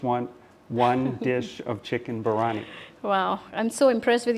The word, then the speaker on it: biryani: food I just want one dish of chicken barani wow I'm so impressed with your pronunciation of Biryani and your bang on Hyderabad